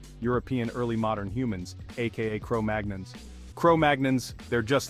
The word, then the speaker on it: Cro-Magnon: Technically, their name is pronounced the French way, Cro-Magnon.